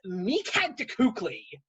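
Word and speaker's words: Mictlantecuhtli: that it's south american that that powerful demon meekhand cookley that's how you pronounce the name i had to watch the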